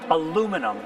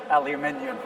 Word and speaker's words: aluminium: So my wife's American, so she points out that you pronounce aluminum correctly because there isn't an extra I. Oh, you guys added the I. We say aluminium because there's an I in it.